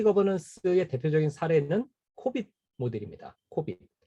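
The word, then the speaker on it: COBIT: 코빗. 자, 코빗의 이름은 어디서 왔느냐? Control Objectives for Information and Related Technologies. 이 얘기에서 왔어요. 코빗. 그래서 우리 그냥 코빗이라고 읽습니다.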